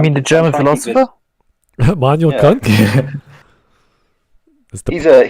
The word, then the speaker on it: Kant: Manuel Kant? That's the correct pronunciation, actually.